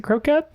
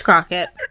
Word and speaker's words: croquet: wrong i was like is it croquette it's croquet it's crockett crockett another stupid english word